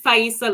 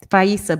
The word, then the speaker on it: Faisa: oh thank you um you pronounce it faisa love okay faisa beautiful very nice thank